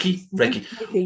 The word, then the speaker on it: Reiki: Did I pronounce that correctly? Yes. Reiki.